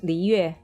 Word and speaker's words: Liyue: Oh, properly pronounced is Liyue. Oh, that's gonna be so hard to say. Yeah, I just say Liyue.